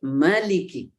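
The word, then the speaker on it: مَالِكِ: baik ya Nah kemudian kadang-kadang dibacanya pendek Maliki jadi saya ingin Ingatkan dulu sebelum lebih jauh nanti kalau Ayah Bunda teman-teman sahabat mendengarkan Imam bacanya dipendekkan atau dipanjangan dua-duanya boleh jangan disalahkan itu tidak ada persoalan dua-duanya boleh boleh dibaca panjang boleh dibaca pendek kalau dibaca pendek artinya Raja kalau dibaca panjang artinya pemilik atau yang memiliki Nah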